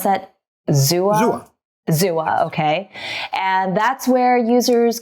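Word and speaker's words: Xooa: NFT photography marketplace built by, how do you pronounce that? Zua? Zua, okay.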